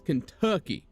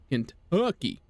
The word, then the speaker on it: Kentucky: Make sure, like, so if you want to say it like I do and you had to have my accent, the U has to have a really like pronounced on it. It's Kentucky.